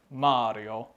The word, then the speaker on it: Mari: It's a me, Mario. So if you don't know that, yes, it's pronounced Mari, not Mary.